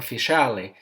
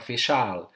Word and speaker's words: faciale: they call it Granuloma Faciale, or if you like the English pronunciation, Granuloma Faciale or G facial.